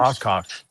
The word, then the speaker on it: Oshkosh: Oshkosh. Yeah. Oshkosh. Every time I say it children's clothing. I was just going to say, I'm just thinking about the little overalls, you know, Oshkosh.